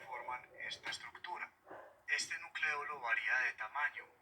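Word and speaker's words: nucléolo: Algo interesante del nucleolo, que en realidad se pronuncia nucleolo, sino que uno como lo oye pronunciarse así tantas veces está como acostumbrado, pero se debe decir nucleolo, es que este no tiene una membrana que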